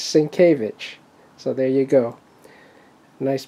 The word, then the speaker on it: Sienkiewicz: Batman by Bill svich for many years I pronounced it sanitz but uh he corrected me it's svich so there you go nice Batman from original